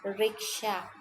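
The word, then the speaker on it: vriksha: mean by riksha here so v is silent heredius riksha a giver of all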